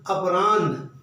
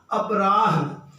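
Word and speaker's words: अपराह्न: और इसकी वजह से हम इसको मध्यान पढ़ते हैं मध्यान पूर्वा अपरान जबकि होता क्या है पूर्वाहन मध्यान अपराहन अगर हलंत लगाकर इनको लिखा जाए तो यह उच्चारण की यह जो गलती है यह भी नहीं होगी एक शब्द देखिए बहुत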